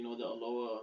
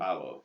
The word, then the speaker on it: Aloe: No, but like the Aloha soothing lotion. Aloe. Yeah. Aloe. Yeah. Aloe. Yeah, I was pronouncing it Aloha.